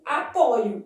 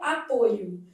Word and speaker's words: apoio: das letras O e no verbo apoiar, a forma de primeira pessoa do presente do indicativo apresenta a letra O aberta. Eu apoio. Isso é verdadeiro, tá? Eu apoio. Eu vou ler isso aqui, mesmo não tendo acento como aberta. Já o substantivo derivado do mesmo verbo apresenta a vogal o fechada, o apoio.